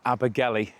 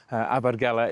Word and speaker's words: Abergele: Today I'm in Abbergala as literally nobody calls it. Uh Abigeli you might have heard more than anything. Abgala is the correct way to pronounce it.